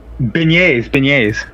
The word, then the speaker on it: beignet: Oh, beignets. Beignets? That's that's how you pronounce it? Yeah. Oh man. My Spanish stuff over here was beignets. Beignet, yeah. You gotta pronounce it like French people.